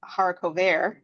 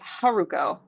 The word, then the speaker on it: Haruko: name um right like it's not like Haro that's my sort of Anglo siiz French um it's like hurricane right haruko right she's she's giving